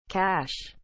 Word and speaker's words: cache: data transfers between system elements with different characteristics cash is spelled c a c h e cash